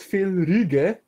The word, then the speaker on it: Fel Reggie: Tell me and tell everyone. It's pronounced Phil Rige.